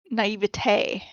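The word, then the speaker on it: naïveté: Naivety? Naivety? Is that right? I don't know. Are you absolutely sure? I thought it was naivety. Naivete. Naivete. Hold on.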